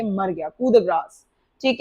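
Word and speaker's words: coup de grâce: Next one आप number 26, कैसे pronounce करते हैं इस वर्ड को, कू द ग्रास।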